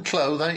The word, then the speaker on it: Clough: Clough, that's my name. Clough. It's normally pronounced Clough, but I don't really mind.